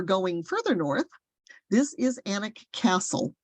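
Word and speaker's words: Alnwick: further north this is anak Castle I know it's spelled a-l-n-w-i-c-k but it really is anik um and this is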